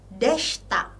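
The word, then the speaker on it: でした: lagi-lagi tidak kita baca Lalu ada deshta i-nya tidak dibaca dan Masta lagi-lagi i-nya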